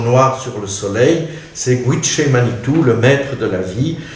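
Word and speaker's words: Gitche Manitou: Vous voyez que la note, il faut prononcer Gwiché Manitou, est de Baudelaire lui-même.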